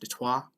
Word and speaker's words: Detroit: french detroit means straight uh and french is pronounced detoi uh and and subsequently uh the british follow